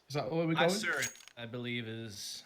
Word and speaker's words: Isurus: Isurus, I believe, is how it's pronounced.